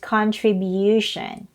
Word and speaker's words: contribution: on the second syllable non-form is on the third syllable so it's not contribution it is pronounced as contribution contribute contribution next word